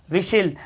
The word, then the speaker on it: whistle: देखो T silent चल रहा है हमारा, टी साइलेंट चल रहा है, फटाफट देखो। विशिल, WHISTLE, विशिल, विशिल मतलब होता है सीटी